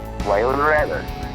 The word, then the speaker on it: Waylon Reavis: Waylon Reavis. Okay. That's how you pronounce my name.